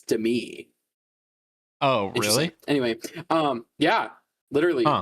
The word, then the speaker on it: Demi: I found out that that's how you say her name, and it's not Demi like Demi Lovato. It's Demi.